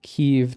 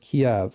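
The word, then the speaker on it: Kyiv: so first of all she says I leave keev tonight it's not pronounced key Victoria newand pronounced Kev all right um I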